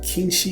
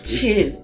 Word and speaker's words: Qin: किंशी या चिन। चिनशी। मुझे हैरानी है कि वे बार-बार किंशी क्यों कह रहे हैं । चीनी में इसका उच्चारण ऐसे ही होता है।